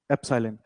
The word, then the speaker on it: epsilon: ठीक है, इसको कैसे प्रोनाउंस किया जाता है देखो, इसको रीड करना सीखो। इसको हम EPSILON, एप्सिलॉन।